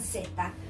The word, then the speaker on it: zeta: The last word, zeta, it should be theta, as in thorough, but we don't pronounce it this way in South America.